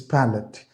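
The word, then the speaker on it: palate: is pallet p a l a t the pronunciation is pallette it satisfies my pette pette mean the ability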